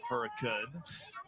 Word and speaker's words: Hurricane: For those unfamiliar with the area, that is pronounced Hurricane High School, town of Hurricane. Spelled like hurricane, though.